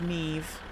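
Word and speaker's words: Niamh: The only Irish name I know is Neve and I and I know how to spell it.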